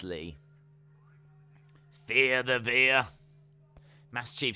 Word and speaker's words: Veer: Because he's called Via. Rhymes with deer.